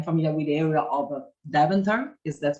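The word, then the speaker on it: Deventer: familiar too i'm familiar with the area of daventer is that correct the pronunciation okay yeah definitely uh david uh yeah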